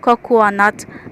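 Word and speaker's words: cocoanut: So it's pronounced as cocoa nut glad.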